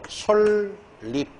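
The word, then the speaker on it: 솔잎: 최종적 발음이. 따라서 솔립 리을 다음에 얘는 설릭다 이렇게 다음에 얘는 불려우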